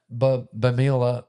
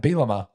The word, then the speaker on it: Bielema: Brett, but I always forget how to pronounce his last name, but Brett Bamila, I'm not even going to try to pronounce it. Brett Bielema, thank you.